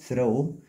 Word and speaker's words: throw: ده بتنطق او طبعا حرف تي اي تي اتش تنطق كانه بتعمل صوت الثاء والاو ده بتنطق او throw ودي trash يعني القمامه الاس اتش بتعمل صوت الشين trash.